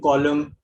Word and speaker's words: column: The N again is silent in combination with M, but at the end of certain words like autumn, column, dam, hymn.